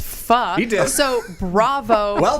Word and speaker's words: pho: all correctly pronounced pho.